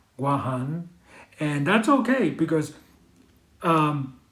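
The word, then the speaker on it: Guåhan: says chao patra oh guam yes guam or gwahan as it's properly pronounced but just like america america takes things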